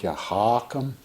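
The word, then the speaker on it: Ya Hakim: do these two names yahakum with the emphasis on the first syllable you know it's not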